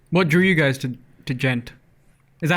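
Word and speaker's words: djent: What drew you guys to gent?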